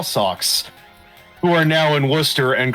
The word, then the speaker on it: Worcester: It's not pronounced Worcester. It's pronounced Worcester.